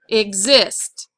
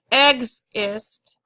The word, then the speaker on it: exist: second one if we follow our rule we know that ex is usually not accented so the is is exist it's not exist it's exist okay now you try write